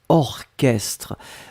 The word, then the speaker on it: orchestre: c'est orchestre souvenez vous c'est bizarre mais il existe il existe certes un mot qu'on écrit chat mais qu'on prononce que y'a pas beaucoup c'est vraiment une minorité mais ici c'est un exemple orchestre on l'écrit or chestres donc au rch str d'accord un autre exemple ce